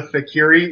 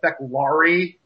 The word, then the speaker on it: Feklari: You keep referring to race of the Fakiri. Isn't it actually the Feklari? That I is actually an L.